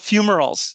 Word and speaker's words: fumaroles: it to, but you also use these volcanic fumaroles or fumaroles. So how's that pronounced? Oh, yes, no problem. So they're called fumaroles.